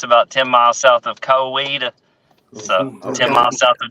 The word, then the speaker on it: Coweta: Oklahoma area but specifically Coweta okay Coweta that's how we pronounce it all right because when I packed your packages I was I was like is it coeta right it happens all